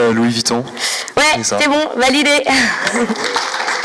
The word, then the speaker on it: Louis Vuitton: suggestions de recherche sur Baou quand on tape Louis buton bonjour Merci pour cette conférence c'est génial c'est comment prononcer Louis Vuitton ouais c'est bon validé